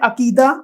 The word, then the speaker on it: عقیدہ: پہلا ہے عقیدہ، آئین کے اوپر زبر آئے گا، کاف کے نیچے زیر، دال کے اوپر بھی زبر.